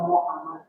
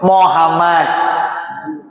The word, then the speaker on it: Muhammad: Muhammad apa Muhammad? Mu. Setiap domah memajukan bibir.